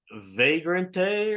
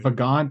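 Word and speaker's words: Vagante: to say this, but Vagrante or something is the name. Anyone, John? Can you correct me on that? But anyway, Vagant, there's no R in it.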